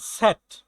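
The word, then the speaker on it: Z: জেনোফল ইফসিলন yoga যোগ্যম জেট এর উচ্চারণটা হচ্ছে সেট সেট সোয়াই এটা হচ্ছে দুই ওকে আমরা মোটামুটি জার্মান ভাষার যে আলফাবেট 26 টা এটা হচ্ছে আমরা জেনে নিছি।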